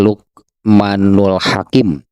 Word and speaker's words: Luqmanul Hakim: Ya, Luqman itu nama orang ya, yang kemudian dikenal dengan Luqmanul Hakim, Luqman Al-Hakim itu ya, kalau dibacanya disatukan itunya jadi Luqmanul Hakim.